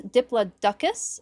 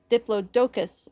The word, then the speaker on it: Diplodocus: And then for the pronunciation correction, it is Diploduckus in the US and Diplodocus in the UK for English pronunciations of the name.